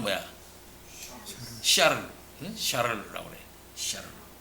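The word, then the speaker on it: Charles: 칼빈은 노용에서 그의 형 찰스와 그의 형제 안토니와 함께 찰스라고 그랬는데, 이 찰스라는 것은 무슨 발음이겠어요? 영어 발음이야. 독일어 발음은 뭐야? 샤를라고 그래. 샤를.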